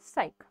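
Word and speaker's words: Psyche: Next क्वेश्चन देखिए, 14th क्वेशन है, which country has सेट to launch a spacecraft to study the metal rich asteroid called 16 साइक, ठीक है।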